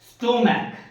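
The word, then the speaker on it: stomach: এবার সিএইচ এর উচ্চারণ ক হবে এক জায়গায়, দেখো স্টোম্যাক, স্টোম্যাক।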